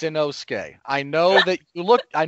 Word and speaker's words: Inosuke: him man bear pig it's his name is inosuke mark yes sir it's inosuke i know that look i know that you